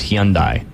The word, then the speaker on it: Hyundai: He was from Korea, and he said it was Hyundai. That's how you're supposed to say it.